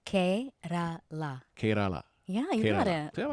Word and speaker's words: Kerala: It's Kerala.